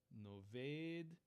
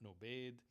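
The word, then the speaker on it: נֹאבֵד: It shouldn't be the hard sound. It should be the soft fricative sound. Noved, not nobed.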